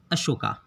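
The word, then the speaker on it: Ashoka: Next यहाँ पर ruler है बिंदुसार का बेटा अशोका। इसे अशोक भी कहते हैं। English pronunciation is अशोका the great.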